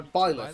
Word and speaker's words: Byleth: So Byleth. Byleth becomes a professor That's the actual who ends up leading one pronunciation.